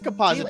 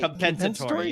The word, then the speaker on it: compensatory: I was like, no, I guess it is compository. And that was my thing too. I was like, but how else do you pronounce it? Say compensatory.